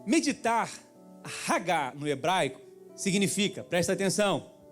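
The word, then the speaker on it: hagah: aqui um pouco hebraico meditar no hebraico é ragar diga ragar HG se escreve H a g a h Aí tu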